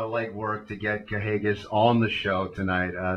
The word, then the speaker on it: Kahagas: there you have it correct it on the pronunciation kahagis uh well I I wasn't the only one pronouncing it that way but uh kahagis the NWA world champion